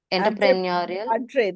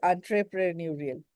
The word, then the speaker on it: entrepreneurial: They have the Entre, entrepreneurial This is entrepreneurial spirit. Okay, it's not entrepreneur. enter. It is entrepreneurial.